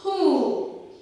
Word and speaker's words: whom: Whoல வந்து H and O is pronounced. Who, whom, whom, whole, whole, and the W becomes silent.